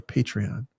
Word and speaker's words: Patreon: By the way, like I have fully changed over to pronouncing it correctly. Patreon.